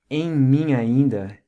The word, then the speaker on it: em mim ainda: Pay close attention to the pronunciation. Em mim ainda. Each of these words has what's called a nasal sound, which, as we saw earlier with the words grande, momento, realmente, and sentir, has this ng quality to it, like em and in.